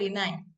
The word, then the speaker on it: Dinei: selaku Marketing Manager dari Dinei Hijab. Benar gak nih Bu bacanya? Dinei. Iya, betul, Dinai. Dinai, oke, Dinai Dinai.